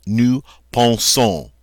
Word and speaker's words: nous pensons: And now we pronounce that nous pensons. So here's an ending that is not silent.